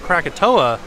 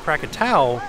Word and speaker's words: Krakatau: Krakatau. Fun fact about this volcano is a lot of people think that it's called Krakatoa, but it's actually pronounced Krakatau.